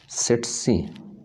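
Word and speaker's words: tsetse: तो ये मोस्टली एक फ्लाई के ज़रिए ह्यूमन बॉडी में पहुंचता है, that is सेटसी फ्लाई। सेटसी, first T इसमें साइलेंट है जी, सेकंड आपकी तलफ़ुज़ में आना चाहिए, सेटसी फ्लाई।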